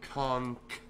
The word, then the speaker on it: conch: enjoying conch for instance I bet you do conk and you know I pronounced the right you know I said it right you know I enunciated